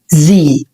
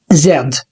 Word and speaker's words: Z: طبعا هو حرف الزي، فاحنا بننطقه في اللغة الانجليزية الامريكية زي، وفي البريطاني بينطقوا زاد. فانت عايز تقول زي او زاد الاتنين صح. زي كلمة زو or zebra الاتنين صح وتنطق بالطريقة اللي تعجبك.